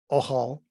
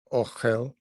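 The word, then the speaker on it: אהל: But that's the Yehudic pronunciation. Okay. The Ashkenaz pronunciations, Ochel, and okay, it's the same as Sephardi as well, I believe, Ochel, because they put the vowels in, whereas we don't use the vowel points in Yehud.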